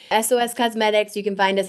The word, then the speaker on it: Esōes: Yeah, so it's SOS, but it's not spelled SOS. It's spelled ESOES, covert spelling. Esōes Cosmetics.